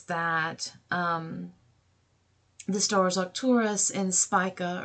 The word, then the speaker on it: Spica: Now, also, that's something interesting is that the stars Arcturus and Spica, or Spica, as some people like to pronounce it, are located on this degree as well, and they are associated with success, protection, and goodness.